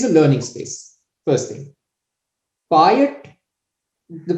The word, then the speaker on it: payattu: you could just say buy it like that you kind of trip over the last sound a little that literally means the